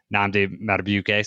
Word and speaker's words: Nnamdi Madubuike: And then Madubuike, defensive lineman, rated number 18, Nnamdi Madubuike.